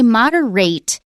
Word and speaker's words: moderate: earlier in the month, ATE, when it is an adjective or a noun, we almost always pronounce it ut. We don't pronounce it ate. So if you say moderate, it is a word, but it's a verb.